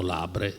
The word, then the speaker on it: Labre: Insomma, il Signore ha voluto che lo trovassi, è il cosiddetto Beato Labre, cioè San Giovanni Labre, francese, io lo pronuncio all'italiana perché tanto stava a Roma, che viveva come un barbone negli archi del Colosseo, poverissimo per scelta, no?